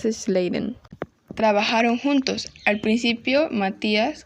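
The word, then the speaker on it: Schleiden: y Teodoro es Chan no puedo decir el apellido de Matías se pronuncia Matías sladen trabajaron juntos al principio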